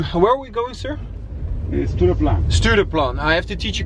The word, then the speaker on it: Stureplan: So, we are on our way to Stureplan. Do I pronounce it right?